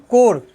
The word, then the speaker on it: corps: कोर, CORPS, कोर, जैसे national cadet कोर होता है CORPS, PS साइलेंट होता है।